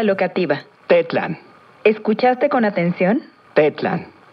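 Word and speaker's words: tetlan: tetlán escuchaste con atención pet land recuerda que en el aguas las palabras se acentúan en la penúltima sílaba de plan muy bien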